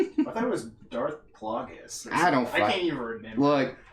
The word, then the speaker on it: Plagueis: It's Plagueis. Plagueis? Oh, okay. Okay. Darth Plagueis. Okay. Sorry for anyone who was offended by my mispronunciation. Plagueis? Oh shit. Wait. Now we got... No, Plagueis? Plague-OS?